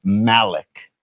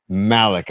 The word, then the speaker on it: Malik: I'm a fan of pronunciation. It's Malik. Malik.